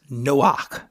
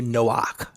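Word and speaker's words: Noach: that from so but we would pronounce it something similar to Noak and Noak means to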